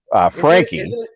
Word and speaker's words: Franke: Andrew Franke asks, whose name I keep mispronouncing because I keep reading it as a German name. Frankie. It's Frankie. That's Frankie.